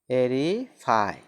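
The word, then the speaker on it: aerify: Aegis मतलब तत्वाधान, AERI FY, एरीफाई, क्या इसका उच्चारण क्या हो जाएगा, एरीफाई मतलब वायु से पूर्ण करना।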